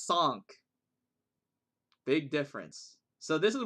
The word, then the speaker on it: cinq: But in French, which is where Don is from, it's sank. Apparently.